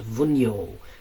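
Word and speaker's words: Wunjo: Wunyo. W-U-N-J-O, because the J is pronounced Y.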